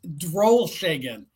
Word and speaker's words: Drollshagen: It's Drollshagen. Every letter is Drollshagen. pronounced.